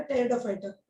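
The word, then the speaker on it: Pteridophyta: टेरिडोफाइटर। Fights, यहाँ पे P silent होता है बेटा, ठीक है, यस मैम।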